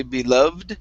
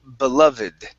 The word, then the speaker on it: beloved: the ed ending So we're not going to say beloved This is going to be beloved Their beloved do daughter